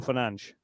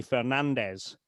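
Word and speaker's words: Fernandes: Now, but I would say to anybody, is it really hard to say Bruno Fernanch? No, it's not hard at all. It's it's easy for everybody to say Bruno Fernanch. Um it might be more intuitive to say Fernandez, but the fact is that his name is Fernand.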